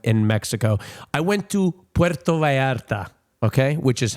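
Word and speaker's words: Puerto Vallarta: I went to Puerto Varta. Okay, which is how they pronounce it uh in Spanish.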